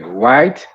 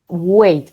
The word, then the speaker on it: wait: White. Whited. Wait, como con una E.